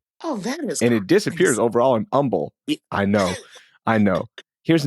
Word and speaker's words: Humble: CPL Grammar on Reddit says, "A petty gripe for them is how we pronounce the H in Houston, but it disappears in Umble."